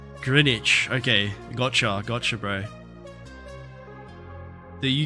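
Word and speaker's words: Greenwich: Oh, the W is silent, so it's it's Grinwich. Grinwich.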